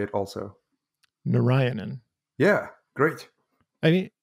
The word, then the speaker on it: Narayanan: Narayanan, and I'd like you to say it also. Narayanan.